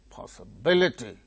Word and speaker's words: possibility: Independence, impossible, impossible, possibility, possibility, possibility, possibility, that is gaining primary stress. po, that gains secondary stress.